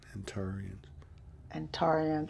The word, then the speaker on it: Antarians: Antarians. Uh-huh. Antares, right? Antarians. Yeah, I could say it. I could be saying it wrong. No, you said it right.